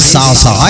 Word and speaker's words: صعصعہ: سکتا ہے آپ کو صاد عین پھر صاد پھر عین پھر ہا، صعصعہ، یہ سن 7